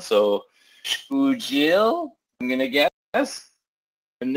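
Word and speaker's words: Xpujil: And, oh, this one's a tough one, Ted, because I've learned that in Mayan, X is pronounced as a SH sound, so Shpujil, I'm going to guess.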